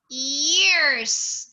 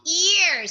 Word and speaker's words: ears: Okay, Don't forget to pronounce letter S if it is already two.